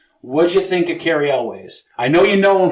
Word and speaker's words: Elwes: All right, next up we have Cary Elwes, or Elwes, or however you say his fucking name.